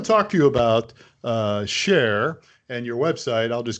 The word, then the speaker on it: shaar: the website that's domain you pronounce it share so this is really